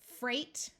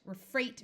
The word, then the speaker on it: freight: somebody who inherits something Freight notice the silent GH Freight refers to Goods being